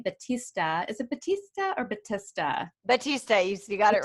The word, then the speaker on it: Battista: with me batista is it batista or batista batista you got it right out of the